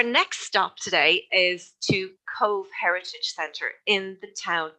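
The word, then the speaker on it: Cobh: here so our next stop today is to cove heritage center in the town of cove now if you look at the name here c-o-b-h you'd immediately think you'd pronounce it maybe cop h but the bh in irish australia is pronounced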